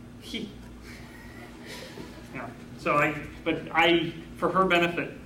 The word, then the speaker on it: chi: When I was in Scotland, I taught a class where we used the Greek letter chi, which they don't pronounce chi either, do they? It's pronounced he.